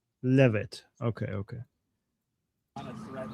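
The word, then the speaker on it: Leavitt: It's it's pronounced Levit. Levit.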